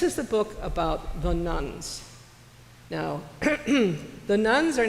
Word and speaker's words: nones: They are the ones that are NUNS. These are the nuns. It's spelled NONES.